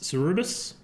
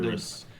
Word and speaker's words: Cerberus: Cerebus? How you say it? Cerberus.